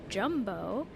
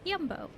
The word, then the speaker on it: Jumbo: This is Jumbo, which I learned is not in fact pronounced Jumbo, but Jumbo. Jumbo.